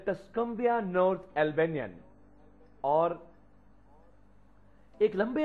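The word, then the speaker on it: Tuscumbia: मैं यहां पर बता दूं कि कई कई जगह पर यह टस्कोम्बिया का नाम टक्सुम्बिया प्रोनाउंस किया जाता है, लेकिन मैंने टस्कोम्बिया इसलिए लिया है क्योंकि ज्यादा जगह पर यही नाम, यही प्रोनाउंसिएशन दी जाती है।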